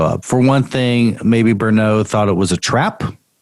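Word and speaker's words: Berneux: And he wanted to set up a meeting with the bishop and my can you pronounce the bishop's name? Bishop Simeon Francois Bernot. Did I get it right? Bernot. Bernot, yeah.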